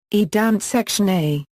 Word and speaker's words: Danzig: The German name, Danzig, is pronounced as Danzig.